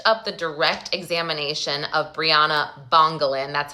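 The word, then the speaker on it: Bryana Bongolan: Okay, so we finished up the direct examination of Briana Bongalin.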